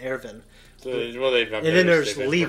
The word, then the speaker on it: Erwin: It looks like it's spelled Irwin, but it's pronounced Erwin.